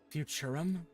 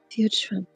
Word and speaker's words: Futurum: Futurum? That's right. That's the name of this planet. That's how it sounded pronounced in the local tongue anyway. I think I hear them say Futurum. Yeah. Futurum.